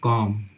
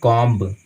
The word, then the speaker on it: COMB: उसी तरह से मानिए कॉम, COMB, यहाँ पे बी है सो साइलेंट है, हम इसको पढ़ते हैं कॉम, कॉम का मतलब होता है कंघी, नॉट की कॉम्ब। अगर आप बा का उच्चारण इसमें करते हैं बी का, तो आपका गलत हो जाएगा, ठीक है।